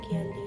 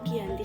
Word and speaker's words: Giyanti: 13 Februari tahun 1755 nama Giyanti sendiri diambil dari lokasi penandatanganan perjanjian yakni di desa Janti dalam pelafalan Belanda itu disebut Giyanti tempat tersebut sekarang dikenal dengan